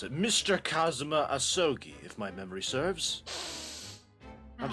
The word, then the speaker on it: Kazuma Asogi: How do you pronounce it? Mr. Kazuma Asogi, if my memory serves.